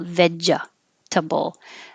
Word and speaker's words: vegetable: it vegeta vegeta vegeta so you're stopping the extra e from coming out vegetable in that case you're totally stopping the air with the j vedja and before you make your tea in this case to make it smoother veggies let air start going over it and it makes kind of a fuzzy vegeta bowl and that's why we say veggies as a nickname photography photography and i